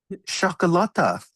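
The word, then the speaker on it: çikolata: Chocolata. See that little hook under the C? That means it has an S pronunciation. So chocolata.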